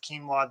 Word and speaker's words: quinoa: I think it's quinoa. Is that not how you pronounce it?